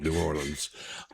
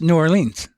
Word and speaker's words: New Orleans: can't say New Orleans, and you can say Orleans, but only if it stands alone.